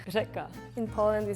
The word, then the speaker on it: řeka: Yeah, we have because in Czech we do have like one letter, it's ž, and it's not like R, but it's kind of like R with like your tongue is like vibrating, so it's ž, and even some Czech people have like problem with pronouncing that.